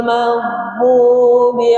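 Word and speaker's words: مغضوب: Huruf gain itu tidak boleh mantul, bukan magdu. Salah tuh. Jadi magdu magdu tebal. Magdubi alaihim waladin. Sempurnakan. Wad waladin. Maka dipanjangkan setelah itu ya. Coba ulangi. Ghairil maghdubi alaihim waladin.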